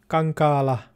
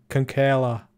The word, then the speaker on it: Kankaala: And also Laura Kankaala. That's how you pronounce it in Finnish. And in English, we're going to say Laura Kankaala.